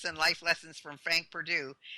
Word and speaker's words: Perdue: university is spelled, and it's not P-U, it's P-E-R-D-U-E, like the chicken in people's groceries.